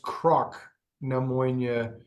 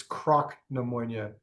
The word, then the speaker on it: Cnoc Na Moine: do or knock and knock it is actually pronounced Croc neonia um it it seems Gaelic pronunciation differs based